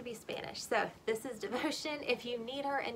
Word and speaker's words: Devocion: again this is devotion it's spelled in its uh the way it would you would spell it if you were saying it in spanish so the spelling of it if you're looking for it online is d-e-v-o-c-i-o-n devotion which sounds french but it's